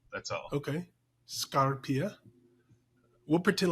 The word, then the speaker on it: Scarpia: yes so the uh the stress is at the beginning of the word and not in the middle that's all okay scarpia we'll pretend like I